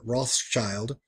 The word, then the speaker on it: Rothschild: He placed a Roman eagle on a red shield over the door, prompting people to call his shop the Red Shield Firm, pronounced in German Rothschild.